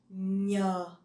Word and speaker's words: nh: The NH in Vietnamese, you pronounce nhờ, nhờ. So it's not like the N in English, okay?